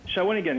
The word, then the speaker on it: Shawinigan: caller we have Norman on the webcam from shawinigan Quebec shawinigan hello Norman hey salute Norman how are you oh look at there we go beautiful Norman and shigan so how do you say that shawinigan shaan yeah shinan yeah and uh oh ho whoops